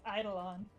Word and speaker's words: eidolon: Eidolon is how they pronounce it in one of the cutscenes, I think, but that person has a British accent and I'm not British. So, in Canadian English, it's eidolon and Navia.